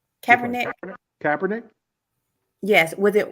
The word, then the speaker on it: Kaepernick: Kaepernick?